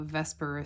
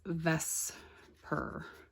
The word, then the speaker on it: VSEPR: to be talking about vesper theory okay v-s-e-p-r which we pronounce as ves per okay this is what it sounds like vesper when we say it out loud but really the the